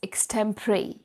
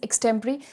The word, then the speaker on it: extempore: और आज हम सीखेंगे the most tough and difficult topic for spoken English course which is एक्सटेंपरेरी। What is एक्सटें्परेरी? सबसे पहले तो दिस इज़ प्रोनाउंस्ड एज एक्सटेंपरेरी।